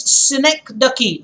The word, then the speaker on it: synecdoche: The next one is synecdoche, and I want to come on camp. It's important. Synecdoche, the pronunciation again. Synecdoche, Synecdoche. Do not pronounce it in any other way.